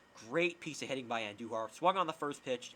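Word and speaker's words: Andújar: and the red-hot Miguel Andujar, roll your R's, hits a home run to right field, and the Yankees are up 3-2. Great piece of hitting by Andujar.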